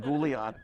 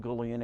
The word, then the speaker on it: Gullion: All right, and he actually got me to pronounce the guy's name right, because I used to pronounce it Gullion, and he says, "No, Jim, it's Gullion.